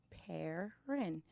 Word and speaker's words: Perrin: and I said, oh, you pronounce it like you spell it, Perrin, and I instantly fell in love.